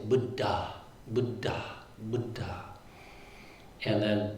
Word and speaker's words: Buddha: budda budda and then double consonants which we're kind of sloppy about in English. Sometimes both consonants get pronounced but most of the time they don't. In poly they always get pronounced. So that's where you're getting this and it creates like a stop when you pronounce both consonants.